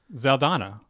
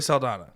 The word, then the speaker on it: Saldana: it's amazing Zoe's aldana Saldana I always say it wrong zeldana Sal Donna it was with an S Zoe Saldana yes there we go she's